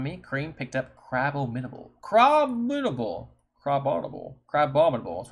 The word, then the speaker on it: Crabominable: Crabominable.